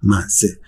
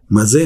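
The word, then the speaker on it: מזה: Ну, написано так, что читается как «мах-зе». Но написано это как одно слово. «Мизе» . Если бы у нас не было традиции правильного чтения, мы бы прочитали это как «ми-зе» — из этого, из этого.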